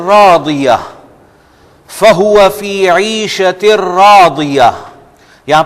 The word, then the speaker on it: رَاضِيَةٍ: ایک تو یہاں پر, اور راضیہ ہم راضیہ کہتے ہیں. یہ بھی اس کو بھی ضاد کو بھی انڈرلائن کریں گے آپ, اور عین کو